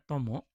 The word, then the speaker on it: 友: Kunyuminya tomo. Onyuminya yu.